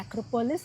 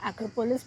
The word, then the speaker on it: Acropolis: ये जो दिख रहा है सामने, ये स्ट्रक्चर है एक्रोपोलिस। इंग्लिश में इसको एक्रोपोलिस बोलते हैं, लेकिन ग्रीक में लोग एक्रोपोल ही बोलते हैं, उनका एस साइलेंट हो जाता है।